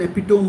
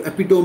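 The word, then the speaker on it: epitome: तो वो ऐसे बोलती थी, सारे हीरो हीरोइन बोलते हैं, ओ यू इट्स एन एपिटोम of style, you एपिटोम। मैं बोला एपिटोम नहीं होता, एपिटमी होता है, एपिटमी, समझ रहे हो।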